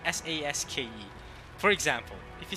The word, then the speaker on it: Sasuke: Even in the English dub, they use, it's like the U is not even there. Sasuke. It's basically Saske.